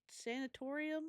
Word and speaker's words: sanatorium: Yeah, Um, today's episode is on the Waverly Hills Sanatorium, Sanctimonium. How do you say that word? Sancha, what? Sanctimama. I believe the correct pronunciation is sanatorium.